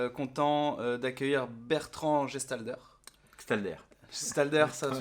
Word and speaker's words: Gstalder: Gestalder, ça se prononce, ouais, tu vois, je l'ai toujours mal prononcé.